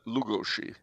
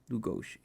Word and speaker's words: Lugosi: supermen who will conquer the world thank you bello lugosi indeed pride of the monster in 1956. all right uh you should pronounce that lugoshi lugoshi no lugoshi lugoshi okay lugoshi interesting he is from bella from